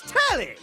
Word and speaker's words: Telly: The name's Telly. Rhymes with Nelly, like, whoa, Nelly!